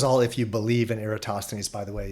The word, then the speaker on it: Eratosthenes: so I consider uh eratosthenes some people call them aristotthanas I call them eratosthenes and I hear I hear that pronounced differently in other ways too but most commonly eratosthenes he presupposed parallel rays